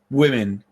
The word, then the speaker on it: women: Women. It's like, it's pronounced like this.